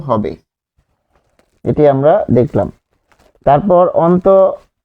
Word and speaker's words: দুঃখ: তাহলে দুঃখ, এখানে আমরা লিখব যে উচ্চারণটা হচ্ছে দ রস্য উ দুঃখ, যেহেতু এখানে বিসর্গ আছে তাই সেটি কি হচ্ছে, দ্বিত্ব হচ্ছে, দুঃখ, দুঃখ।